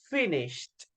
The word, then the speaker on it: finished: Finished. Remember, the ending sound is a letter T.